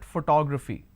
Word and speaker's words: photography: It's actually pronounced as photography.